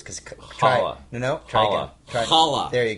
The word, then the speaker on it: challah: Yeah, and then in the second season it was called the Challah, which I always pronounce because Challah.